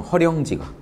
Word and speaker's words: 허령: 이제 이게 리을로 발음 나는 것뿐이죠.